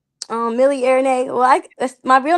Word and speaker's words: Airinaye: Did I say Airinae or did I or did I try Airinae. Okay, I was be like Milli, but it literally says A I R, like air air.